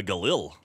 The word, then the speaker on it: Galil: A Galil. A Galil. That shit's pretty good. That'll do. Galil White? It's pronounced Jalal.